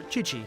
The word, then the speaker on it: Qiqi: Qiqi. Or Qiqi, sorry. QI spelled like a C. Or a CH.